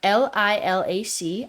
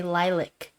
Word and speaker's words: lilac: I also say for LILAC, I say lilac. And most Americans say lilac.